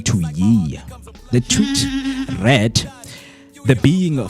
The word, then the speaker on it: Ye: I am Ye. Yay. Kanye, I am Yay. I am Yay. I am Yay, man. That's how you pronounce it.